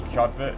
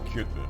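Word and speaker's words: Kjötve: But in a lot of the time here, they are supposed to be pronounced with an So for instance, Kjotve is actually Kjotve.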